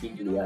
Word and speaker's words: Biglia: Let's start off with Lucas Biglia, and yes, you did pronounce the G.